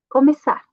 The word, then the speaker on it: começar: A C cedilha, a pronúncia é como uma S. Começar, tá?